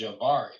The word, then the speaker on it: Javari: and stuff that you' pronounce my name right. It's Javari. Oh, Javari. Okay. Well, honestly, I started calling you Havari because I thought that's what it was cuz before I was calling you Javier.